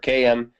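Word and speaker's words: caim: Yeah, it's a Celtic word, KM, pronounced KM, but it's spelled with a C, C-A-I-M, C-A-I-M.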